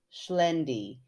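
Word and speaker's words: Xlendi: got like oh no and then she said pronounced schend if that helps yes it does thank you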